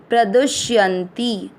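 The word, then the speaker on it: प्रदुष्यन्ति: दूसरा चरण प्र का अर्थ हुआ प आधा और र पूरा, दू के साथ आधा श प्रदुष, य पूरा है, य में अ मिक्स करते हुए मात्रा के अंदर का आधा न य के साथ करेंगे यंती, प्रदुष्यंती।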